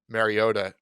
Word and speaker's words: Mariota: i'm going to say mario every time every week i don't know if you noticed i paused just so i could say mariota because i was going to say it correctly um we talked about